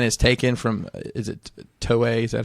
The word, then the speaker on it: Toei: The story that line is taken from is it Toei? Is that how you say it? Yes. Toei in Japan with Toy.